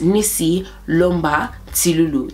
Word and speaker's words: Nissytee Lumba Tilulu: So my full name is Nissytee Lumba Tilulu. That's how you say it properly, okay?